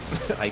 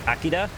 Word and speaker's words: IKEA: I frequent IKEA. IKEA, yeah. Oh, It's pronounced Akida.